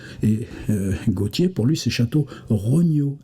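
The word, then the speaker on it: Château-Renault: je me souviens bien entre vandom et château Renau qui se prononce chtr no et là tout d'un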